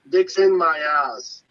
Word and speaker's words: Mayaz: Okay, so the name would be Mayaz. Mayaz. Okay. Thank you very much. Mayaz. That's how you pronounce it.